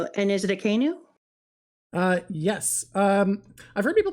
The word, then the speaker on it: Akainu: It is Akainu. I'm not wrong. Okay. I said it that way for so long, and then I got corrected by someone, so I was like, I guess I've been saying it wrong.